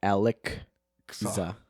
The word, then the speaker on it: Alekxa: it's spelled Alekxa. Alekxa. So it's like Alekza.